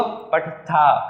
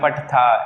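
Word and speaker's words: पठथः: कैसे, इसको हम क्या बोलेंगे, पठत, लेकिन इसको पठथा, हल्का सा हा का साउंड निकलेगा लास्ट में, पठथा ऐसे।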